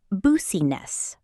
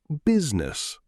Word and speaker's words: business: Many learners say boosiness. The correct pronunciation is business.